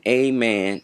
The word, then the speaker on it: Amen: strong, but if you place emphasis on the first and second syllables, it will have more power. So, this is the correct way of reciting the word Amen. That is the correct way to pronounce amen.